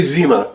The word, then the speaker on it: Zima: Can you still even get Zima?